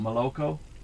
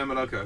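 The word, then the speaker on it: молоко: It's M-O-L-O-K-O, but you say ma, so you pronounce your O like an ah, right? Ma, la, ko, and only the ko at the end is O.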